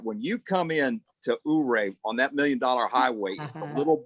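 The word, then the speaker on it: Ouray: how you pronounce it is it euray or ooray oh that's a neat town right yeah if you guys haven't not seen that when you come in to ooray on that million-dollar highway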